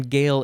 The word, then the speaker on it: Gael: a modern gale highland scott irishman welshman cornishmen or breton or do you say britain uh and then gail is g-a-e-l like gaelic gael yes they are celts